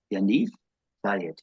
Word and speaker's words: Yaniv Zaid: Pronunciation is Yaniv Zaid. That's my sort of version of it with my faint Irish accent behind it.